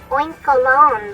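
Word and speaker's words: Oinkologne: know I can say oink cologne though sounds a little bit like oint and cologne smashed together is that what's intended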